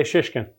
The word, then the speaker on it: Shishkin: I would say Shishkin. Well pronounced.